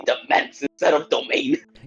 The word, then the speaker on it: demesne: Then how do you pronounce It's domain. Yeah, it's essentially like an It's essentially an English spelling of domain.